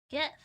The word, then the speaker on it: GIF: The G stands for graphics, so of course it'll be a soft G. GIF.